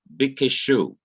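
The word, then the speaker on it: בִּקְשׁוּ: Here is the Hebrew verb bikeshu. You have beth, which is our B, short hirik, which is a dot under the beth, which is a short I sound, E.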